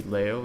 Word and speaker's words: Leo: So it would be Leo, that would be the Japanese pronunciation, that's what I call myself, and Leo, which is sort of the English pronunciation.